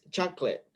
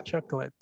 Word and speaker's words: chocolate: this word walter is chocolate chocolate chocolate chocolate yes you have only two syllables ah okay okay yeah chocolate chocolate can you can